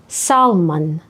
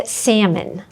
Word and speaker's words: salmon: Більшість каже salmon, Угу. а це salmon.